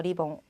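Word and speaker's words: リボン: 그 다음 리본인데 봉 약간 길어지죠. 리봉.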